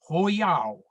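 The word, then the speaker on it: 火药: As you can see, they called it Hoyao. I know that's the correct pronunciation because I asked our local Chinese takeaway. Hoyao means fire drug.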